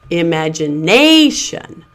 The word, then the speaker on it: imagination: But what I want to point out to you here are the stress markings. Again, we have primary stress marked at the top here. There's that little tiny mark up here before the nay. Imagination. That nay is your primary stress syllable marked here.